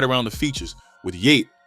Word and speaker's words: Yeat: The energy dips into uncanny valley and right around the features with yeate pronounced yeet and Julia Wolf floating in the mix.